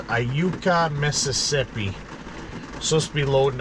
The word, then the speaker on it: Iuka: So today we're just waiting to load in I think it's pronounced Iuka, Mississippi.